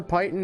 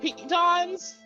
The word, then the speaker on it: piton: I mean, the crowbar, hammer, python, and all that makes sense to me. The torch makes sense and all this. I believe they're pronounced pitons.